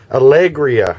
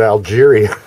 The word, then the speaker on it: Alegria: How do you pronounce the name of this boat, Det? Alegria. I wanted to call it Algeria.